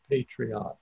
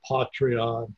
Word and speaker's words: Patreon: listened to the people on patreon and they pronounce it patreon by the way I'm gonna go with that there were some people say Patri on patreon that's paid they say patreon and patriotic